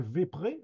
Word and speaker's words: vespré: PUP, qui rotonte dal Vépré. Alors, il écrit Vespré, mais il a prononcé Vépré. Donc il l'écrit à la française, tout en étant donc sur une prononciation où le S s'estompe.